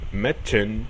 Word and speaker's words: Mädchen: La A umlaut se pronuncia como una E en español. Por ejemplo, Mädchen, que significa chica, o sea, alguien del sexo femenino joven, Hühnchen, que significa pollo, o später, que significa más tarde.